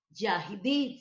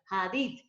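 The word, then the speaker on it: יחיד: Ahí está Yahid, se pronuncia Hadid o Yahid. Pero en hebreo, como con J, Hadid.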